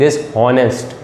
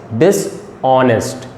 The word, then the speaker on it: dishonest: ठीक है, बहुत सारे स्टूडेंट्स इसको गलत प्रोनाउंस करते हैं, दे से dishonest. तो dishonest is a wrong pronunciation. The right pronunciation is dishonest.